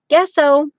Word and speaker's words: gesso: to tease me about gesso. Well, I read an article one time that said you pronounce it like guess who, gesso, you know.